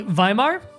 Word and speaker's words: Weimar: It's pronounced as V. And way is pronounced as vey. So that's, hold on, let me get it in front of me again. So that would be Weimar.